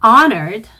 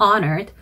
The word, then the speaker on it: honored: honored, H가 발음이 안 나죠. honored, 그리고 colleagues, technology, 이 technology 발음하실 때 technology라고 잘못 발음하시는 분들이 있어요.